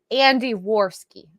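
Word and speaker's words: Andy Warski: Andy Worski. I've been saying Adam. It's Andy Worski.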